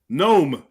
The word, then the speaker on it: gnome: gnostics agnosticism or gnosis how do you say gnome known G like you know like the garden gnome like little elf like type of things